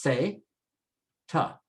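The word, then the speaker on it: zeta: And last is the Z is always pronounced S. There is no Z sound in Spanish. It's only an S sound. And so it's pronounced se, ta, seta, seta.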